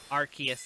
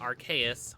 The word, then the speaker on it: Arceus: Pokemon's name um yeah it's um it's Arceus Arceus is the correct pronunciation it is the most Mo the most